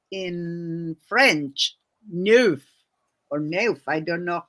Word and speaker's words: neuf: I still remember in a Nancy Drew book about a number 9 that she said in French, neuf or neuf. I don't know how to pronounce it.